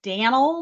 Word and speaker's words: Danel: go thanks gathy so I am Danel that rhymes with flannel per I am an